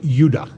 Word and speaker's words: Judah: The two southern tribes were called Benjamin and Judah, more properly pronounced Judah, because we didn't get the harder sound to the J until about 200 years ago.